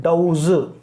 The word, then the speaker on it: doze: तो देखो DOZE, पहली बात तो इसका प्रोनाउंसिएशन होता है डाउज, और DOSE का प्रोनाउंसिएशन होता है डाउस। DOZE का प्रोनाउंसिएशन होता है डाउज और DOSE का प्रोनाउंसिएशन होता है डाउस, ठीक है।